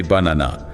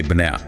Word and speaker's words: banana: We don't say banana. We say banana. Banan. Right? You can barely hear those a sounds at the beginning and end.